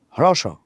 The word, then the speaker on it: হ্রস্ব: হ্রস্ব ই, হ্রস্ব ই মানে কি? হ্রস্ব মানে কি? ছোট ছোট। হ্রস্ব ই, দীর্ঘ ই, উচ্চারণটা কিন্তু এটা।